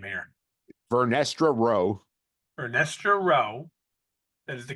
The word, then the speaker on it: Vernestra Rowe: Rebecca Henderson confirms that, oh God, you're going to have to help me with this pronunciation of the character's name here. Vernestra Rowe.